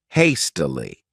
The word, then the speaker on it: hastily: next adverb is hastily this word has three syllables and the stress is on that first syllable hastily what it means is